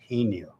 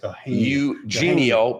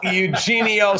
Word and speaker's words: Eugenio: Yeno. It's Eugenio because I could tell you exactly who told me how it is pronounced.